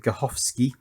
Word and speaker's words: Gutowski: or was it arthur Gutowski although you pronounce it Gorsky and Yannick slinky er